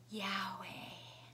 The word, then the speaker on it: Yahweh: And when those Hebrew letters, YHWH, are pronounced, some people say it sounds like this long breath, Yahweh.